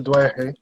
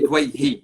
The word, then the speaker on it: Douaihy: So, thank you so much for joining us, Douaihi. That's how you say your last name, correct? It's actually Dwayhi.